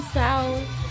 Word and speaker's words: Tso: The General Tso's chicken Tso's to Tso's. The T is silent, I'm pretty sure. Yep.